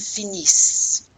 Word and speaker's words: finissent: Ils finissent. So we do pronounce the S here, but we do not pronounce the ENT.